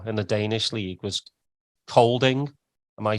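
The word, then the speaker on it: Kolding: you played for in the Danish League was colding am I saying it right absolutely um so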